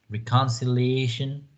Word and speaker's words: reconciliation: you have the pronunciation you can see the schwa reconciliation making peace and reestablishing relations very similar to the one we have in spanish right reconciliation but you have this sound twice in a single word then